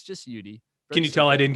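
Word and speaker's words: Youdee: it's just you d so it's spelled y o u like you and d-e-e so it's ud with the interlocking ud in the middle so a lot of people would go yo ud and that happened a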